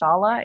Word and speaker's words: Shola: i am shala my name is spelled shola but pronounced shala is nigerian i am